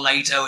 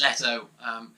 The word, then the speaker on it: Leto: commented that, you know, it's not Leto, it's Leto, because that really fucking matters when you make an album as shit as he did.